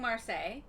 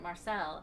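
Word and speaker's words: Marseilles: We keep saying Marseille because we've been to Marseille. But on the Illinois River, they just kept calling it Marcel, and I'm like, what?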